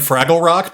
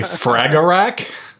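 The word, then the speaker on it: Fragarak: I could call this next band Fraggle Rock because that's kind of what it looks like, but it's actually Fragarack, a Spectral Oblivion, 2nd album from prog death band from India.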